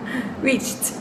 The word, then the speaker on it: reached: en el pasado y cómo se pronuncia en el pasado se pronuncia Reach estoy exagerando reached reached alcanzó ejemplo de cuando el